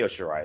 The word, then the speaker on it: Io Shirai: How do you pronounce it? Okay. Hold on. No, sure. I'll address this. Okay, Io Shirai is fantastic.